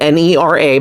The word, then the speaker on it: Nera: it because it's spelled n-e-r-a but I did look it up and it is Nera is how to pronounce the name um but anyway this